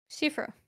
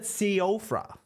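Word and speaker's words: Siofra: Shifra. Shifra. Yeah. I always said Seofra. Yeah, I thought that for the longest time as well, until someone corrected me.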